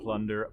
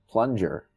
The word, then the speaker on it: Plunger: Plunder puss. No. Come on, Matt. Say it right. Plunger.